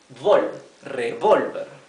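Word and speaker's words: revólver: difference this minor difference revolver is revolver with a TI the ti here on the o it means that this the the accent is in this syllable revolver while this word has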